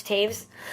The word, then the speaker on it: Taves: I say Taves because she rhymes with Chavez, and in Mexico that sounds better to me, but it's Taves. Is it really? It is, isn't it? I've been saying Tavis English for teacher years.